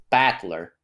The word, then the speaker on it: Battler: a name uh s it's made up of characters for fight and person and it's pronounced battler okay put put it